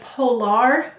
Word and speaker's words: polar: we'll underline the r now did you notice when you say polar it doesn't sound like polar well r this phonogram also has a schwa sound and that sound is er so when it's in an unstressed syllable that may say er let's read it very